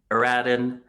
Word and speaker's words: Eradhun: is melissa at reach tribe and michelle milner eradin um who's joining us eric did i pronounce it right you did already good guy